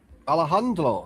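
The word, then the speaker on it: Alejandro Garnacho: Alejandro. That's how you pronounce it.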